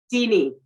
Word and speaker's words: Dene: How do you pronounce Dene? Deanie.